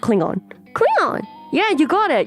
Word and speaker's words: Klingon: every time it's different Klingon as if you were talking about plastic wrap so what is pronounced Klingon Klingon yeah you got